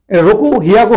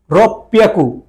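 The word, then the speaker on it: ろっぴゃく: রকু হিয়াকু হওয়ার কথা ছিল, কিন্তু রকু হিয়াকু, কিন্তু ওরা ব্যতিক্রম রাখছে, এটা বলতে হবে রব পিয়াকু, রব পিয়াকু। এই যে ছোট সো আছে, এর জন্য পরেরটার সাথে ডাবল উচ্চারণ, রব পিয়াকু।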